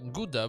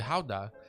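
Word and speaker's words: Gouda: stuff I know that it isn't pronounce uh GDA but actually Howa uh when it comes to the cheese so I learned some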